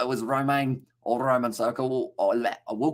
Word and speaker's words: Romain: It's a Romain, would be pronounced like Roman in English, by the way, says at the Big V8 show.